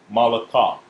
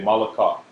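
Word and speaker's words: מלאכה: So the ka and the ha are conjoined to make one syllable. So it's malakah. Okay, malakah.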